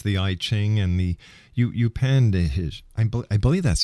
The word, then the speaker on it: Upanishad: In your book, you've referred to many times the ancient texts such as the I Ching and the Upanishad. I believe that's how it's pronounced.